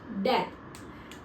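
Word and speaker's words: debt: सबसे पहले तो बैड डेप्ट के प्रोनंसिएशन है आपकी बैड डेप्थ। बीस में साइलेंट होता है।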